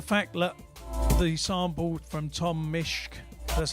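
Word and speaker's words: Tom Misch: And the fact that the sample from Tom Mishk, that's how you say it, has already been identified in 30 seconds, that's why it's not on their album.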